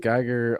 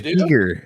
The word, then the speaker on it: Giger: Oh, it's Giger. It's not Giger. You want me to? Did I just say? I said it wrong. American Geiger. I did say Geiger wrong.